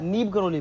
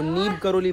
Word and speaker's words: नीब करोली: आरा road की कुछ ऐसे बोला, नीब गलोड़ी बाबा, नीब गलोड़ी। पागल ऐसे हंसते नहीं है, वो नीब करोली बाबा हैं।